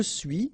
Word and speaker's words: suis: Okay, so je suis, final S not pronounced, tu es, okay, so